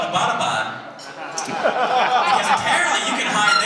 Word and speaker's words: Abbottabad: And she was like, yeah, and it's not pronounced Abbottabad. I was like, oh, well, how do you say it? And she was like, it's Abbottabad.